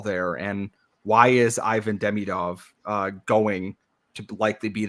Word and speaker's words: Demidov: one way you have Ivan demidov not demidov I will get this